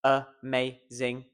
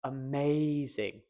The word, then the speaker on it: amazing: Well, first of all, I find the stressed syllable. Amazing. Amazing. Amazing. Amazing. Amazing. As much as I enjoy that last one, that is incorrect. Amazing. Okay. Now all you need to do is focus on the may. You can forget about the and the ing. Just go for that middle syllable and this word will work and you will sound so much clearer.